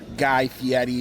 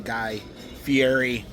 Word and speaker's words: Guy Fieri: Guy himself said that his name is pronounced Guy Fieri, but we all call him Guy Fieri.